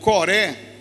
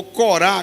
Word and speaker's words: Coré: A Miriam, irmã de Moisés, junto com Coré, ou Corá, como você queira dizer, são duas pronúncias do hebraico, né?